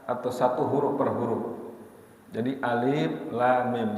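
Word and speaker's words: الم: satu huruf perhuruf jadi alif.lam.mim jadi jangan dibaca alamat tidak boleh tidak boleh diangkat Ini seolah-olah kita lagi mengeja enggak ada pernah kejadian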